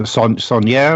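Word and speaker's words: Saunière: I'm not even going to try to pronounce it. Sonnier.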